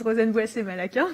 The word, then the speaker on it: Rozenn Malaquin: So my name is Rozenn Malaquin. Thank you for pronouncing it correctly.